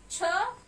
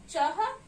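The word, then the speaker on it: छह: And we call it as cha, chah, C-H-E-H, cha.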